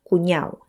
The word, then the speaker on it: cuñao: y como hemos acordado lo pronunciamos cuñao sin la d usamos Este término